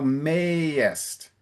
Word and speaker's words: mayest: And then towards the end, thou mayest. I think you said Okay. mayest. So the A is quite open.